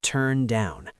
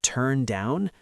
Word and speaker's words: turn down: Did you notice the phrasal verbs hang out and turn down? In phrasal verbs, the stress is usually on the second word.